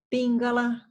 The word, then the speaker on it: Pingala: Então, não é porque tem o acento no A que a sílaba tônica é o final, tá? É Ida, então na primeira, Pingala, no Pim, Sushumna, no Shu, tá?